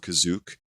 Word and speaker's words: Kashyyyk: the first time here, called Kazook, as it's pronounced here.